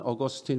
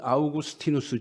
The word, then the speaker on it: 아우구스티누스: 사람이 여러분이 잘 아시는 어거스틴 입니다 원래 라틴어 식으로 발음하면 아우구스티누스 줘 그 아우구스티누스 하고